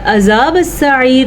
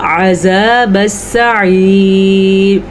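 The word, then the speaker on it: عذاب السعير: عذاب السعیر عین کو اپنے تلفظ سے نکالنا ہے. یہاں پہ بھی ہمارے پاس اگر اس کو کوئی پڑھتا عذاب السعیر تو وہ غلط کر رہا ہے. کیسے پڑھا جائے گا؟ عذاب السعیر.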